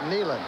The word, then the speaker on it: Neyland: We can get some arguments back and forth about the pronunciation of that name, but I can tell you that the general, the major as he was when he came, he called it Neyland, K-N-E-E.